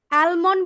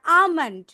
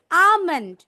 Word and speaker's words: almond: এটাকে আমরা কি বলি আলমন্ড বলি না আমন্ড L should be silent here L should be silent here বলো almond and then it should